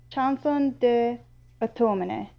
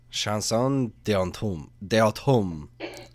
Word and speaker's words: Chanson d'automne: I'm going to try and pronounce it. I'm very sorry. Chanson de automne. I think so. I think it's rain and autumn. Chanson d'automne.